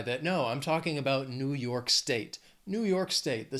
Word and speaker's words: New York: Then another very well-known state, New York. Two syllables, stress is on that second syllable, that second word, New York.